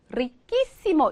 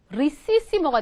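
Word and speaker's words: riquísimo: 그래서 우리가 그냥 발음만 생각하면 여기다가 이시모를 붙인다 생각하면 리꼬, 리끼시모 이렇게 돼야 되잖아요. 그쵸? 그쵸? 리끼시모 이렇게 돼야 하는데 얘를 그냥 아무 생각 없이 리에다가 오 빼고 이시모를 이렇게 붙이잖아요. 그럼 얘는 어떻게 읽게 돼요? 리시시모가 돼버리죠. 그쵸?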